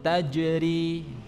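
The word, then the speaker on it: تجري: Taj AJ a jannatun tajri ya tajri tajri ya hati-hati jangan sampai merubah huruf Jim menjadi huruf c yang keluar ya karena secara sifatul huruf ini tidak tepat kita ulangi lahum jannatun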